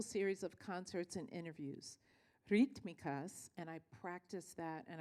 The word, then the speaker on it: Rítmicas: of concerts and interviews rikas and I practiced that and I told Melvis she said you have to roll your RS I said only if